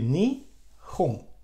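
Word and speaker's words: 日本: And we have, if we put them together, just we take this syllable and these two, and we will have home. And so it will be ni hon.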